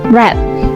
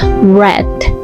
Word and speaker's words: red: Oke, or for example is red ya, bukan red tapi red.